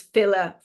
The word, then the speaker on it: filidh: And that's spelled FILIDH is fila for plural, and then FILI for individual fila.